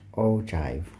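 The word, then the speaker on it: ogive: the date above and pay attention to how you pronounce this one it's an all Jive okay not anything else but oh Jive all right great now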